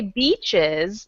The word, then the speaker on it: beaches: So when you say beaches like this, you need to think about the I being in Spanish.